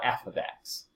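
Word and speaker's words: f(x): f of X okay so that's how we say that not F times X this is not a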